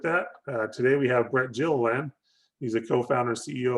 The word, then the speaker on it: Gilliland: Name is Brett Gilliland. There's a hard G on the front end of that.